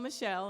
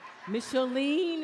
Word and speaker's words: Micheline: People think I'm Michelle and I'm No, Michelle leaned into my name. So Micheline is my name.